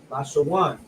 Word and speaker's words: Lashawan: This is how you will pronounce it: La, which is the La, the Sha, which is the Sha, and then the Wa and the Na come together, which is pronounced one. Lashawan.